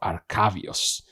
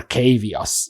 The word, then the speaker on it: Arcavios: Some Emeritus professors return from their wanderings periodically to share tales of the mystical wonders of Arcavios, or Arcavios, depending on how you want to pronounce it.